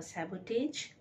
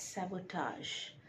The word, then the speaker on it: sabotage: number two is s-a-b-o-t-a-g-e is it sabotage a sabotage no it is correctly pronounced as sabotage sabotage sabotage means when you deliberately destroy or